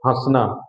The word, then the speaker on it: हंसना: जो हमारा अनुनासिक होता है ना, उसका भी उच्चारण आपकी नाक से, हंसना, चांद, है ना।